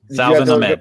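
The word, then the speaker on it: Salvon Ahmed: Salvin Ahmed, yes. SALVON. They signed Matt Breida in the offseason. They signed Jordan Howard in the offseason. They still got Patrick Liard. And then Salvin Ahmed.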